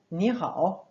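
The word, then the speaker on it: 你好: deux se change en deuxième temps par exemple ni hao qui s'écrit en pin mais il est rare en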